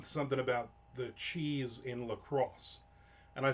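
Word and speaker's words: LaCroix: I'll now what about Lacrosse Gi? So, you missed the beginning. We talked about Lacrosse water which everybody thinks is Lacroy water. It's not. It's lacrosse.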